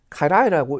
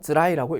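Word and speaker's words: 辛い: 그래서 자, 그러면 자, 이렇게 적으면 아마 대부분이 카라이라고 읽으실 겁니다. 그죠? 근데 요 한자가요, 쯔라이라고 읽을 수도 있습니다. 카라이로 읽으면 맵다는 뜻이고요. 쯔라이로 읽으면 힘들다, 괴롭다 이런 의미가 되겠습니다.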